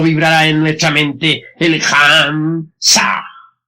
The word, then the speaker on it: Ham: La H suena siempre como J.